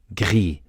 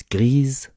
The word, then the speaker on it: gris: Gris becomes grise, gris becomes grise here too.